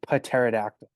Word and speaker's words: pterodactyl: my head pterodactyl No because the p is silent there's a p in there yes it's it's actually pterodactyl it's a pterodactyl yeah